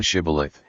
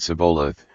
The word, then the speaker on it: Shibboleth: If he said, Nay, then said they unto him, Say now Shibboleth, and he said Sibboleth, for he could not frame to pronounce it right.